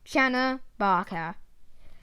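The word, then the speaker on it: Channa barca: dwarf the barker snakehead scientific name kiana barker pronunciation shana barker size perhaps up to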